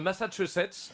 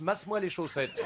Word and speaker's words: Massachusetts: Alors, je te lis, hein, c'est une étude de l'université de Boston, dans le Massachusetts. Alors, je te préviens, Philippe prononce « masse-moi les chaussettes ».